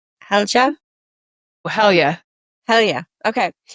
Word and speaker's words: Halja: How do you pronounce her name? Helga.